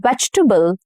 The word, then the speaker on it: vegetable: She eats 1 green vegetable every day. Vegetable. So it has about 2 to 3 syllables and not 4. Okay. Vegetable, not vegetable. No. Vegetable. Okay, 3 syllables.